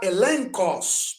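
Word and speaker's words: ἔλεγχος: Na palavra elencos, também, prova, consideração interior ou convicção interior.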